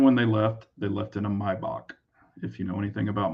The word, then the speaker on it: Maybach: And when they left in a Maybach, if you know anything about Maybachs or Maybach, some people pronounce it that way, but pretty crazy.